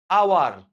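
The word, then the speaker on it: hour: এইচ দেখা যাবে যে উচ্চারিত হচ্ছে না। তখনই আমাদের কি বসে? এন বসে। সোজা কথা আচ্ছা খেয়াল করে দেখেন কিরকম যে আওয়ার এটা যদি আমি বলি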